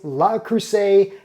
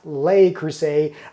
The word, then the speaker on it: Le Creuset: pronunciation of its name yes it is La Crusade not lay Crusade despite the way it's spelled now when comparing the enameled